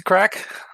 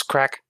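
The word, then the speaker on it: craic: guys doing what's the crack um what's the crack is that like a what's the crack what's that mean that's about drugs no that's c r a i c it's it's galic it's more like you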